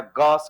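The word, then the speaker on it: gauche: Partially staggered बोल दीजिए या गॉस कंफर्मेशन बोल दीजिए। क्या बोल दीजिए? गॉस। Pronounce as गॉस। Spelling ji ए यू सी एच ई लेकिन प्रोनाउंस कैसे होता है? गस तो इसको गॉस बोल दीजिए या पार्शियली स्टगरर्ड बोल दीजिए।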